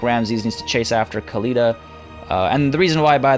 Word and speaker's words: Khalida: conversation in the comments, the reason why Khalida is being called Khalida is because that's what she calls herself. And, yeah, that determines how things are pronounced.